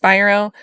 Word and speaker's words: Spiro: up against so guys I call him Alex Spiro I didn't know his name is pronounced Spyro um his style might be